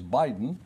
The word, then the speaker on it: biding: The word biting, usually said without pronouncing the G as Biden, means waiting. You often hear someone say he's biding his time.